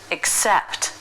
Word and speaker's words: accept: The word accept, the S sound starts the stressed syllable, accept.